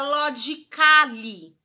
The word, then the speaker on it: logically: bastante atenção a letra A é silenciosa toda vez que ela vir com o sufixo ali que aquele and see em alguns exemplos são a gente tem a palavra logicamente quer lógico Lógico que quer dizer que se a agente não fala a gente não fala logically você vai cortar vai